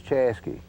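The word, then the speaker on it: Chaska: of the Corbin division these are pronunciations kind of indigenous to the area but chasa which is spelled c h a s k a is chasy and uh uh k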